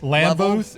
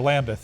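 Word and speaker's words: Lambuth: And they crossed paths at the NAIA Lambooth and Sioux Falls, right? Yeah. Right, and so that was kind of an interesting note. Or Lambeth, I pronounced that wrong.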